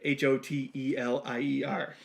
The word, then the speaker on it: Hotelier: So it's like Hotelier. Pronounced the same, spelled differently.